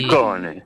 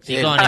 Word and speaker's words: Ciccone: Muy contento porque has pronunciado mi apellido como se debe. Sí. Chicone. Chicone, bien italiano.